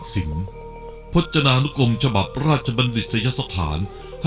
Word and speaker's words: กสิณ: การ มี ฤทธิ์ กสิล ซึ่ง อ่าน ว่า กสิล พจนานุกรม ฉบับ ราชบัณฑิต สยสถาน